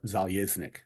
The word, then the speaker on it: Zeleznick: My last name's Zeleznick. In Russia, Yeah. it's pronounced Zeleznick.